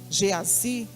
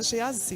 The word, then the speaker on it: Geazi: mandou o seu homem geazy geazy eu gosto de pronunciar Geazi né e embora não tenho acento agudo lanue mas eu gosto